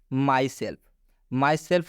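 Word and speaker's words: myself: माई सेल्फ में आप देख सकते हैं एफ से पहले एल आया हुआ है लेकिन इस एल का उच्चारण आधा लॉ से किया जा रहा है।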